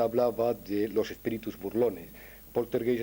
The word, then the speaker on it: Poltergeist: de los espíritus burlones porter gays es una palabra que viene del alemán en realidad se pronunciaría potter gais y viene del alemán